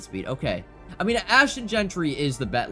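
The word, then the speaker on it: Jeanty: but I want to pick up asht and jry or Gentry sorry I mispronounced it I'm sorry Boise State fans Gentry I am friends with a lot of Boise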